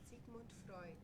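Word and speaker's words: Sigmund Freud: how how do you pronounce it Sigman Frey pronunciation is a thing hold on here we here we go from the German Channel Sig Freud Freud say it again Sig Freud say one one more time sigon Freud okay we we got it Freud Sig fruit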